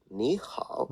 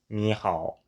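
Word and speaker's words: 你好: The super famous niha. Do pronounce the H, by the way.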